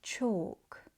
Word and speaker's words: chalk: Other examples of the silent L that are also mispronounced are salmon, yolk, and chalk. Although they are written with L and some speakers may pronounce the L, it's supposed to be silent.